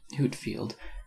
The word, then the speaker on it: Whitefield: whitefield of the note george whitefield pronounced hootfield 1714 to 1770 a